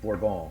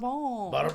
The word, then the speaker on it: Bourbon: So like uh I know purists will probably correct me and say it's it's pronounced borbal. It's like yes. Oh, barb barbone.